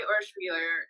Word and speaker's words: Urschwiller: obviously, located in Urschwiller, which I always want to say Urschwiller, Nicolas, because I think good. That's right. Pronunciation, right? Okay. So I don't want to over Francify it with Wheeler or something.